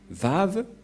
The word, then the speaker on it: Vav: Et donc, la prononciation du lettre Vav en hébreu, selon la prononciation de Abraham et Moshe, on le prononce V, mais pas W ou OU, comme avec certains, c'est directement V.